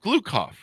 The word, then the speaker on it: Gloukhov: I believe Gloukhov, if I have that pronounced correctly, don't I, Michael?